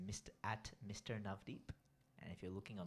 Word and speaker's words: Navdeep: and God bless you so my name is navdeep and the way to spell that on the Internet is n a v d double e p n a v double e p that is navdeep and if you're looking on Instagram it's missed